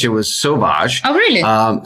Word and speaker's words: Sowash: pronouncing that correct Sage yes it's actually French it was Sage oh really um saage yes and when we